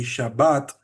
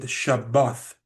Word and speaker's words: Shabbat: For example, the word Shabbat, my ancestors did not say Shabbat. My ancestors said Shabbath, Shabbath Shalom, and this is from the Northern Kingdom.